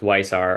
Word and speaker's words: Weissar: It's pronounced Weissar according to Drew Carter said he just asked him.